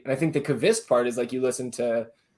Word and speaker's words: Lundqvist: So she's been helping me out, and she was like, "Yeah, you guys have been on the loon part of it, but it's Kvist instead of Lundqvist, right?" And I think the Kvist part is you listen to Hernan or some of the other podcasts.